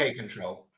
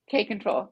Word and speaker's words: kapp-control: K-control. K-control.